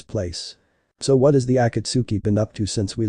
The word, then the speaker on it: Akatsuki: those two they're part of an organization called akitsuki AKA what now Yang asked unsure of how the pronunciation was it's Akatsuki Rashi answered last I heard they were just